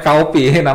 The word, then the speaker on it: Kaopi: Namanya Kaopi, Kaopi. Jadi memang pengen bikin kopi tapi jangan orang ngebacanya kopi ya, jadi Kaopi.